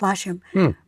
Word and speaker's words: Latium: It's actually pronounced Latium, but I always pronounce it Latium, Latium.